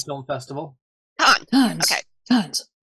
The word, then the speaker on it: Cannes: Film the Cannes Film Festival. Cannes. Okay. Cannes. Gone, like in Star Trek.